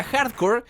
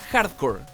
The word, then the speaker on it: Hard Corps: I tell you that the Konami's product name is a play on words on the term "Hardcore" as they sound phonetically identical. In fact, it is quite clear when listening to their TV spot. By the same token, if we were pronouncing the final "s", we would be saying the word “corpse”, which means “corpse.”